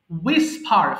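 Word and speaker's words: whisper: করা Warne warned Warne উইসফার ফিসফিস করা এখানে কিন্তু উইস হবে না হ্যাঁ ডাবল এ পরে যে এইচ আছে এটা সাইলেন্ট লেটার হিসেবে কাজ করবে তাহলে একটু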